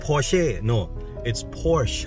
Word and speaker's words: Porsche: อ ก เ สี ย ง ว่ า Porsche ไ อ้ ช ะ เ นี่ ย อ